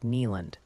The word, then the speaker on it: Neyland: And maybe try saying Neyland more like Neeland. Drop the hard D sound, champ.